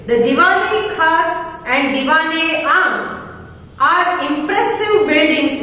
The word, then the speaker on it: Diwan-e-Khas: द दीवान-ए-खास, listen to the pronunciation correctly. The Diwan-e-Khas and Diwan-e-Aam are impressive buildings inside the Red Fort.